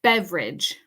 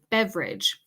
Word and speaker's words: beverage: tip for you guys this word in English has a dropped syllable a dropped syllable okay